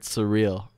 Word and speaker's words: Suriel: It's like the word surreal.